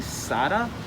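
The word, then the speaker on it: Sata: All right, so I found this book in here called The Roads to Sada. Did I pronounce that correctly?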